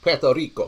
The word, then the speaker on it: Puerto Rico: And in other news, there was a lot of stuff going on in Puerto Rico. Well, that's how you're supposed to pronounce it.